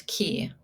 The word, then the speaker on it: Ka: our C Ka energy pronounce key ke e pronounce that way spelled k a got it okay it